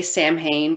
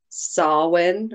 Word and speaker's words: Samhain: always want to say samhain but i think it's pronounced more like sawwin or something like that so that it's